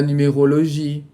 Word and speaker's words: numérologie: Em francês, nós não temos sílaba tônica. A gente vai ter uma sílaba que vai ser um pouco mais alongada. Você não pode falar la numérologie. Você vai falar la numérologie. La numérologie. La technologie. La politique. Ok? Não fale la politique. Ok? La politique. Sempre na última sílaba, a gente alonga um pouquinho mais.